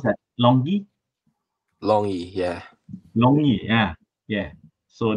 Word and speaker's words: LONGi: How to pronounce that? LONGi.